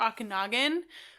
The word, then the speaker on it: Okanagan: Usually buy a couple of my favorites, either Okanagan, which is a Canadian, British Columbia.